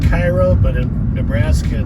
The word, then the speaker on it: Cairo: future too coming into the town of cairo it's spelled like cairo but in nebraska it's pronounced cairo one of